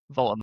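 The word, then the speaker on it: Woltemade: It's V, even though it's a double, it's a V, isn't it? Voltemade.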